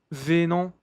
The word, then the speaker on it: venant: Venant. Venant. Não se pronuncia esse T.